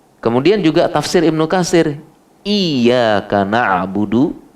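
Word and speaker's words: إِيَّاكَ نَعْبُدُ: Pakai tasydid ya. Iyyaka na'budu. Tapi kalau tidak pakai tasydid, iyyaka na'budu, mungkin karena bacanya terburu-buru. Ya. Fi ajalah, ya, ajalah, terburu-buru. Bacanya iyyaka na'budu, tidak pakai tasydid, harus pakai tasydid.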